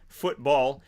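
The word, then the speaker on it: fútbol: F-U-T-B-O-L with the accent on the U, football, which is soccer to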